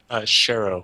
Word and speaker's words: Schero: ask you how was the proper way to pronounce yours Cheryl Cheryl okay well my last name is